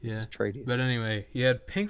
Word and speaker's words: Atreides: How you pronounce that? Atreides. Yeah. There we go. It's Atreides.